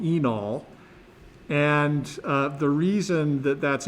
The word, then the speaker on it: enol: That's pronounced enol. The E is long, enol.